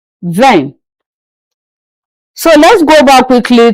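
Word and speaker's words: vingt: 20 is pronounced in French as in v. Ven.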